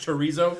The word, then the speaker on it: chorizo: It's actually pronounced chorizo.